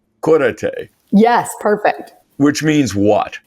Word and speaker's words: Cúrate: So pronounce it for me. It's Cúrate. Cúrate.